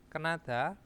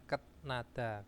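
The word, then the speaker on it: 끝나다: uang jaminan kuhada mencari kenada itu selesai bacanya kenada Ya bukan ketnada Ken karena apa tiet bertemu dengan niion maka tietnya berubah menjadi niion terus di sini ada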